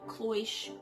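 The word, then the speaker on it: cloche: can make an enclosure like a cloish i think that's how you say it i'm not even sure c l o c h e um like a clois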